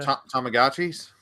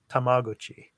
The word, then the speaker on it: Tamagotchi: in the US again Tamagotchis yeah that's how I would say it oh no no no no tamaguchi that's how it's pronounced that's the correct pronunciation out here in Japan but anyway back in